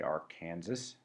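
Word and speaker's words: Arkansas: the brown stretch of the arc Kansas that's how it's pronounced there at least dust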